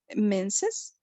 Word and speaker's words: menses: what about this one it is said menses yes that is the pronunciation yes that's it's written